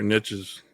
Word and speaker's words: niche: What made you kind of get into find your niches or niche, depending on how you say it.